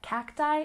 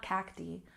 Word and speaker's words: cacti: and focus becomes folai notice that cacti and folai have the long eye sound not cacti not foli cacti foli